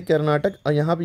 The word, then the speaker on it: कर्नाटक: ये पूरा क्या है कर्नाटका इसको कर्नाटक कहते हैं के ए आर एन ए टी ए के कैपिटल है बेंगलुरु हां